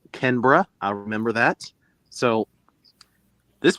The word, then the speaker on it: Canberra: She even corrected me too on how to say Aussie, and then the city is pronounced Canberra.